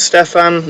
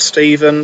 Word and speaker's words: Stefan: So first off, I did mispronounce Stefan's name. It is Stefan, not Stephen, so that's their first legitimate criticism.